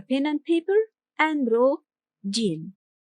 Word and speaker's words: جيم: Today’s letter is Jīm, Jīm. Although it’s romanized by the English letter /j/, its sound is different. The sound is [j], [j].